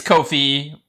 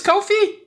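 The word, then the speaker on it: Ko-fi: The answer is Kofi. Rhymes with no fee. Oh my god. Are you Are you So it is Kofi.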